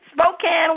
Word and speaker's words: Spokane: i just say that what is it spokane spokane washington all right spokane they say kika morlad is a vocalist executive producer from the pacific northwest she's from spokane washington her latest album is a mixture of